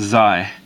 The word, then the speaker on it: xi: This is going to be xi, pronounced xi.